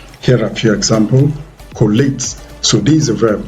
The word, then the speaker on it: collate: Okay, so the rule is that once it is a verb, 2-syllable verb that ends with ATE, then of course the ATE carries the stress.